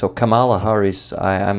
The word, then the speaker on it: Kamala: with you listening yesterday uh Camila Harris or Cala Harris I I'm not sure which is the right pronunciation of her name when she was yeah I I've heard k mhm okay thank you so Kamala Harris when she was uh given the press release